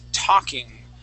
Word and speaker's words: talking: to make sure that we do not pronounce that L talking where did it yeah t talking without that l oh here it is okay H so the word is talking the L is silent instead of saying to talking it is T talking okay try that talking